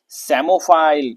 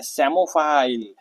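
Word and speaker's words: psammophile: देखो इसको क्या पढ़ते हैं? सेमोफाइल। पी साइलेंट है। इसको क्या पढ़ते हैं? सेमोफाइल।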